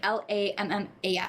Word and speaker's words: Lammas: I mean, Lammas.